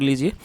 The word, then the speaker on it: lose: और दोस्तों आप इस वर्ड को नोट कर लीजिए, ये लॉस्ट जो आपने वर्ड लिखा था, ये उसी की फर्स्ट फॉर्म है, जिसका मतलब होता है खोना, LOSE, और जो इसकी करेक्ट प्रोनाउंसिएशन है वो है लूज।